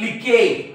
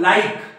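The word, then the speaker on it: like: तर याला काय म्हणतील लिके याला बिके याला शिने याला विने याला मिके याला चेंजे असं काहीतरी म्हणतील ते पण हा शब्द आहे लाईक हा एल म्हणजे ल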